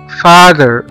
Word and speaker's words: father: وزي كلمة father father father، التي مع الاتش اتنطقت زال او ذي او زد زي ما احنا شايفين قدامنا.